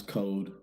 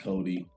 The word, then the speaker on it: Kode: so anyone who's listening k-o-d-e pronounce code not cody album or the mixtape